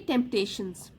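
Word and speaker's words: temptations: Today there are many टेम्पटेशंस, पी को आप silent छोड़ दीजिए, टेम्पटेशंस, ठीक है, तो पी साइलेंट है, टेम्पटेशंस that can divert a student from his goal.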